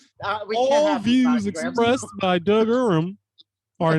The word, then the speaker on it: Uram: Uram.